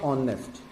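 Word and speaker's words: honest: अब देखिए, जैसे ही मैं वर्ड लिखता हूँ ऑनेस्ट, अब ऑनेस्ट में एच प्रोनाउंस नहीं होता है।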